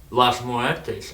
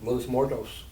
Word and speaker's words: Los Muertos: within the Mexican nationalities, Las Muertes. If I pronounce it wrong, correct me, but it's basically the Day of the Dead. Well, Los Muertos. That's what I meant by Las Muertes. Los Muertos.